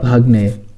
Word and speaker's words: ভাগ্নে: এই ভাগ্নে শব্দটিকে আমরা আঞ্চলিকভাবে ভাগিনাও বলে থাকি। তবে ভাগ্নে এবং ভাগিনা এই দুইটি শব্দের মধ্যে প্রমিত বানান এবং উচ্চারণ হচ্ছে ভাগ্নে।